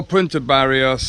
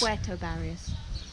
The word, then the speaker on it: Puerto Barrios: us down through Utila - Chris gets the name wrong ! You can get a boat from Punta Gorda to either Livingston or Punta Barrios !! Puerto Barrios !!